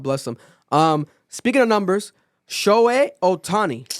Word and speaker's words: Shohei Ohtani: Speaking of numbers, Shohei Ohtani, right? Oh, Did I pronounce it right? Yep. Shohei? Yeah, bro. Shohei Ohtani.